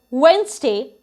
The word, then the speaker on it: Wednesday: people say today is wednesday and i have a lot of work but as you can see d is silent in this word wednesday and the same thing